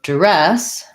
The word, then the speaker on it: duress: And so duress has second syllable stress. And the first DU can be a schwa, like res. And then we have red tent vowel there, duress. You can also do a little bit of an oo there, duress, or an So dur, or a little duress. It's similar to the word during, where I tend to use the during, duress.